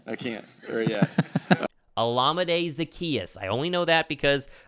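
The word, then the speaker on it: Olamide Zaccheaus: addition that's his name I can't oh yeah olamide Zacchaeus I only know that because I live in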